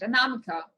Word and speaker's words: Anamika: That's actually pretty correct. Anamika, but it's Namika. like Namika. Yeah, the tone is somewhere else, because I would put like the tone on the me, but it's not.